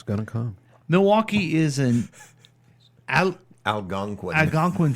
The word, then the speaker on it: Milwaukee: is always scary mhm it's going to come Milwaukee is an Al Algonquin Algonquin for the good land I think you need to say it it's actually pronounced Mele is that correct yeah okay bird scooters are